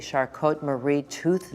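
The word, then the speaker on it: Charcot-Marie-Tooth: Am I saying it correctly? Shot Marie tooth disease. Did I really thought it was like a French name? It is French.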